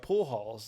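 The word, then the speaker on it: Pujols: So the bases loaded, they bring up pool halls. Yeah. They say, is that how you say his name? Pool house. Pool. Yeah, you were Pool close. It was halls.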